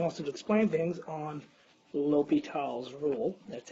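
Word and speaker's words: L'Hôpital: the homework and also to explain things on l'hopital's rule that's how it's pronounced no matter how much dough and the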